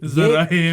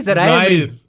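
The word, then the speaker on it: Zaïre: ज़ाहिर एमरी नहीं, ज़राए. कमेंटेटर को मैंने सुना था वो कहता है ज़राए एमरी. ज़ाराए एमरी. स्पेलिंग्स तो जाहिर बोल रहे हैं.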